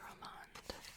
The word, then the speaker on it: Romand: Next item is Back Me Tone Up Sun Cushion by Romand. I think that's how you say it. It says it's Roman. Really? Really? Roman.